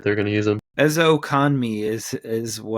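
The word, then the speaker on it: Ezukanma: Ezokanmi is how you say it. Ezokanme. All right. I looked at the pronunciation for it, but he was surprisingly a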